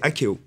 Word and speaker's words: Akeo: Et donc, comment ça s'appelle si on a envie d'aller regarder un peu Alors, c'est Akeo. Akeo. Voilà. Comment ça s'écrit?